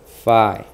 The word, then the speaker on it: phi: Spelled phi. Kind of like when you identify like that. Phi, right?